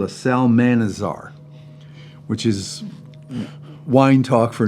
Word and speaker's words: Salmanazar: believe it's called a Salmanazar, which is wine talk for 9 liters. It kind of sounds like salamander to me, but Salmanazar, I looked it up.